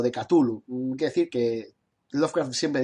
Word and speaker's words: Cthulhu: Quiere decir que Lovecraft siempre dijo, estos que dicen, no se dice Cthulhu, se dice Chulu, se dice Chulu, tonterías. Lovecraft siempre dijo que el ser humano es incapaz de pronunciar el nombre de los dioses exteriores y que el CH en realidad el sonido corresponde a un carraspeo, ¿no?